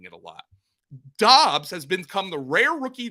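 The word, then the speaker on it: Doubs: i can confirm that dobbs's name is pronounced dobbs not dubs apparently romeo did not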